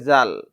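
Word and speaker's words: ذ: তখন সেটা হয়ে যাবে জাল তাহলে দাল জাল এটা হচ্ছে জিমদাল এটা হচ্ছে খজাল খ জাল জালের উচ্চারণটা নরম হবে জিহ্বাটা কিছুটা বাহিরের দিকে বের হয়ে জালের উচ্চারণটা হবে এটা হলো সোয়াদ আমরা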